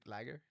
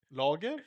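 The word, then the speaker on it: lager: know when people hear you order a beer and you say lagger. Logger. Yeah. Oh, he said you can spell it like lagger. You should read it in English will be like lagger.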